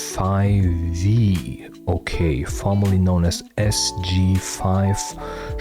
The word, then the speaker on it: f5ve: Five members profile pronounced as 5V.